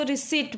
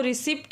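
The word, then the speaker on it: receipt: यहाँ पर हम इसको रिसिप्ट ना पढ़ के रिसीट पढ़ेंगे, क्योंकि इसका प्रोनाउंसिएशन पी में नहीं हो रहा है।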